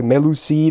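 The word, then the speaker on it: Mélusine: And her name is supposed to be pronounced like Melusine or something like that. I've always said Melusen.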